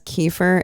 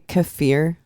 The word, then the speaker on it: kefir: Kiefer you know what everyone pronounces as Kiefer is actually kefir and there was a